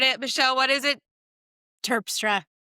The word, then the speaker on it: Terpstra: My guest today, Michelle Tas, did I say that right? I butchered it. Michelle, what is it? Turpra, I'm so sorry.